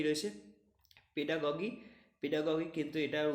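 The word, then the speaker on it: pedagogy: Next দেখো কী রয়েছে পেডাগগি, পেডাগগি কিন্তু এটার উচ্চারণ পেডাগজিও বলা হয় কিন্তু অ্যাকচুয়াল আমরা এখানে করব পেডাগগি।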